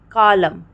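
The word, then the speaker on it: column: ठीक है तब वहां पर हम एन को साइलेंट कर देते हैं जैसे कि आटम ठीक है आटम डैम कॉलम हाइ ठीक है तो हम क्या कर रहे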